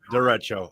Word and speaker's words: derecho: Derecho. Okay, Right, that's the yeah, official pronunciation.